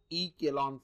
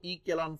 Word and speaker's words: echelon: टू बी इन रो ई केलॉन form okay row ई केलॉन ई सी एच ई एल ओ N spelling व्यवस्थित लक्षात ठेवा रो ई केलॉन किंवा रो ई चेलो pronunciation row इक्वलन form if it satisfy